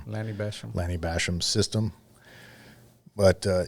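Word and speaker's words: Lanny Bassham: previously you were using Lenny passum uh system or um I'm saying his name wrong question Basham Lanny Basham Lanny Basham system but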